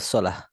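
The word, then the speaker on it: صلاة: মুসলিমাত আর যেমন আমরা বাংলায় বলি সালাত সো সালাত বললে উচ্চারণটা ভুল হচ্ছে মানে শব্দের অর্থ পরিবর্তন হচ্ছে না কিন্তু উচ্চারণ ভুল বলা উচিত ছিল সালাহ সালাহ রাইট মানে ওয়াহফ করলে থামলে পরে হ্যাঁ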